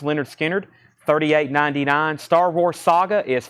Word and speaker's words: Lynyrd Skynyrd: Vinyl big restock of Lynyrd Skynyrd pronounced Leonard Skynyrd 38.99 Star Wars saga